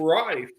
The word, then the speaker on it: Rife: his name right Rife is hey you're saying my name right uh Rife is the last name all right good deal